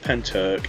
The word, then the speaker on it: Pentyrch: So, I didn't know how to pronounce Penturk um because it's got a really weird spelling with a Y, but it's it's called Penturk and it's a village